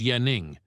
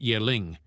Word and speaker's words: Yaning: As if sensing this, the guy immediately decided to clarify that his name was Yaning, not Yeling.